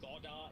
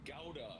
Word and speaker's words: Gowda: I was like, bruh, it's not Gowda, bro. I don't know why they don't just say Bangalore. It's spelled Gowda. Just say Gowda. Kempe Gowda Airport. It's spelled like that. It's very phonetic.